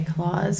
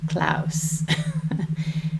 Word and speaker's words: Claus: klaus and big klaus i mean i guess you could say claws because it's spelled like claws but i think then you might think it's a christmas story and it's not a christmas story so we're going to go with klaus by hans christian anderson